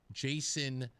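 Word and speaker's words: Jaishon: by the name of Jason uh Bellamy. And Jason's name is spelled different. Uh it's a kind of a variation of a name. Uh spelled J A I S H O N.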